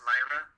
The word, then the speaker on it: Lyra: little toy of uh Lyra Heartstrings or however you pronounce name yeah because you and I are so we know how to pronounce Lyra like Li some people put l I'm either way really yeah